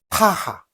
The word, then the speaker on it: pH: 자, 그 다음에 파하 또는 pH라고 읽습니다.